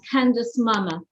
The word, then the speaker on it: Candice Mama: but an extraordinary story of forgiveness and that's candace mama have i pronounced your name correctly oh you did a